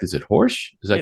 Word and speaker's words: Horejs: He's a Xanadu Gallery owner, and I want to make sure that I pronounce his last name correct. Is it Horsch? Is that It's correct? Horsch. That's right. Horsch.